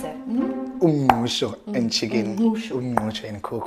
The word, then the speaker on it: uMngqusho: Now, how do we pronounce it? uMngqusho and chicken.